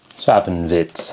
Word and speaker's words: Treppenwitz: Is the W pronounced as V? Treppenwitz.